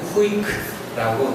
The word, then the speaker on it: CWIC: 그 박스가 들어가 있죠 cwic라고 쓰고 저희는 후이크라고 읽도록 하겠습니다 이런 단어는 없는데 약자죠